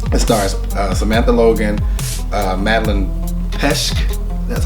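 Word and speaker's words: Petsch: a movie now it starts Samantha Logan Madeline Pesche that's how you say her name and Katherine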